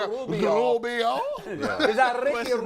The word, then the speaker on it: Rubio: She's like, "Is that a Rubio?" I said, "Stop rolling your tongue when you say his name around me like that." Yeah. It's Rubio, It's not Rubio.